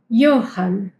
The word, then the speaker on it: Johann: Johan, Johan, suena como una I. La H también ya vimos que suena como la J en español, Johan.